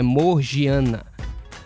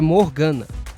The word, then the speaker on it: Morgiana: Para caso tenha alguma pessoa que estranhe, o nome, a pronúncia dela no português é morgiana mesmo, tá? por causa do i ali no meio.